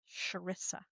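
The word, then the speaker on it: Charissa: she said it's like even though it's ch but it's like an so Sharesa. Sharissa because I mispronounce everything.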